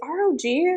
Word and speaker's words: ROG: gaming handheld from Rog hey it's Rog it's not Rogue frog well I guess